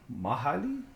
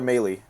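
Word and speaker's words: Mahle: Tyler Mey. Yeah. Why would they spell it like that anyway? I don't know. Yeah. Yeah. It's okay, man. Yeah. It's It's pronounced like M Ah E.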